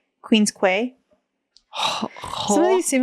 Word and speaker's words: Quay: like a lie um boy Canadians pronounce as key uh like a key Queen's Queen's K Queen's Quay some of these seem